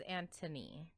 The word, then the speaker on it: Anthony: I think it's Anthony with an H, but they pronounce it as Antony.